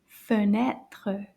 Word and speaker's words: fenêtre: It's called une fenêtre. Fenêtre. Let's clap the syllables for this word. Fenêtre. Trois syllabes. Fenêtre.